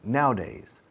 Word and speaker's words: nowadays: Because nowadays, hoy en día, escuchad cómo lo digo, nowadays, no digo nowadays. Cuando lo ves escrito parece tres sílabas, pero al hablar lo decimos en dos.